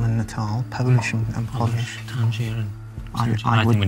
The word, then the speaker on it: Tangier: These are words that change their pronunciation and meaning depending on whether or not they have a capital letter. Right. Yeah. Without a capital T, it's tangier. Natal becomes natal, Polish becomes Polish, August becomes August.